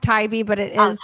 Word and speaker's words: Tybee: It's actually pronounced Tybee, but it oh, is Tybee. all Okay. the tourists say Tibby, which make us all laugh.